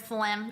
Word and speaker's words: phlegm: I hate the word phlegm. It's spelled nothing like how I want to sound it out.